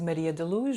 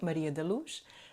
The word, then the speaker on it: Maria da Luz: My name is Maria da Luz. And how do you spell that? Yeah. So Maria, and then Daluz. That's a Portuguese name, Maria da Luz.